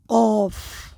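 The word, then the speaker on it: ق: করতে হবে একটু সঠিকভাবে এটার ক্ষেত্রে অনেক সময় আমরা কাফ বলে ফেলি। কাফ বললে কিন্তু ভুল হবে।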